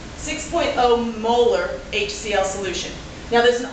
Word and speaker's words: molar: when we see this 6.0 M and we pronounce it molar so this would be pronounced 6.0 molar HCL solution now there's an awful lot implied